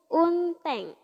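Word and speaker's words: 運転: Kalau kanji ini bertemu dengan kanji satu lagi yang ini partnernya, maka dia bukan dibaca hako lagi tapi jadi un. Nih, ini bacanya unteng.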